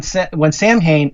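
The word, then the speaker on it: Samhain: When Sam Hain, and that they said that's the correct way. That's the American pronunciation, is what they said.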